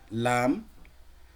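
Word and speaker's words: لام: লাম লেটারটা কিভাবে উচ্চারণ হয় দেখেন, লাম জিহ্বার আগার কিনারা, এই যে জিহ্বার আগা, তার আগার যে কিনারা, আগা সামনের দিকের যে কিনারাটা, জিহ্বার আগার সামনের কিনারাটা সামনের উপরে দুই দাঁতের মাড়ির সঙ্গে লাগে, সামনের যে দুই দাঁত রয়েছে, সামনের এই যে দুই দাঁত, দুই দাঁতের এই যে গোড়া, এই দুই দাঁতের গোড়ার সঙ্গে আপনার এই জিহ্বার আগার কিনারাটা ঠেকিয়ে দিবেন।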